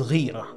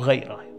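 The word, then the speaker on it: غيرة: Jealousy is ghira or ghaira, pronounced both ways.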